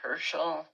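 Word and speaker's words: Heschel: I think it was Rabbi Herschel, that's how you say his name, he was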